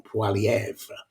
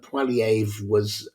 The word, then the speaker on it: Poilievre: I keep getting his name wrong, Poilievre. And while a lot of Canadians felt that Poilievre he wasn't a very effective leader, nonetheless, they